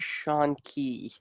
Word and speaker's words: Shanky: mean it's a put it's supposed to be pronounced shawn key after the yeah it's not supposed to be pronounced like oh somebody's getting all stabby you shank with a